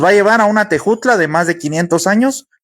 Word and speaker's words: Tejutla: Entonces, Tejutla se se pronunciaba tejutla, pero la J en el idioma castellano vino hasta mediados del siglo XIX.